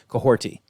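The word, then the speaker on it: Kahhori: So, there's no T in the spelling, but it is pronounced Coahorti.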